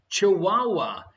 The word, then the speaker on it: Chihuahua: Thank you very much, Little Sheep Minion, for pointing out that I pronounced the pronunciation of the dog wrong. No one else noticed. Ya bam! Chihuahua.